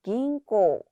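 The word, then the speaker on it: 銀行: 긴꼬 앞에 타금 붙고 뒤에 장음으로 발음된다는 점 유의해 주시고요.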